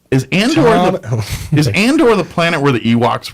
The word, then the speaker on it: Andor: throwing off the planet you've just been saying it wrong this whole time yeah so it's and or is Andor from indoor